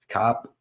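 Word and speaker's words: Kape: Cop, you spell it Cop. I always say Cape. I do too because it's basically spelled Cape, but we're gonna call it Cop because I got corrected on it.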